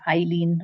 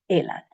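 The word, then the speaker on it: eilean: Elan, make sure you don't say Eileen or Elan, it's Elan.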